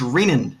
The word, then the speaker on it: Renan: Because it's Renan. That's how it's pronounced.